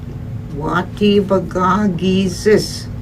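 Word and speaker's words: Waatebagaa-giizis: When you say it, when you know how to say it, you say it fast.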